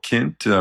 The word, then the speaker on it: Kint: episode with Rachel Kint Dr Rachel Kint rhymes with lint like lint Chocolat uh